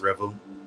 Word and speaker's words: R3vel: So, you said R3vel, right? Yes, it's pronounced R3vel.